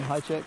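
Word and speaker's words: Hajicek: yeah is that how you say his name high check yeah i checked yeah well i'm going to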